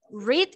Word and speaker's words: read: va cambiando ese verbo es tu pronunciación grit es en está presente en red es the past como el color red red en el pas